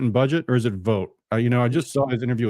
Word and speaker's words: Vought: Patty says it's pronounced Vote.